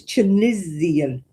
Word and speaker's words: Tunisian: It's not got ease in the middle of it. It's got an I. It's chisian.